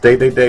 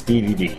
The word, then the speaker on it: Dedede: captain and betadine and I am aware that's pronounced day day day in Japan but in the u.s. ddd so the point where